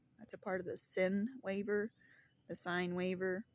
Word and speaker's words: sine: a part of the sin waiver the sign waiver s i n e silent E sin you know that's from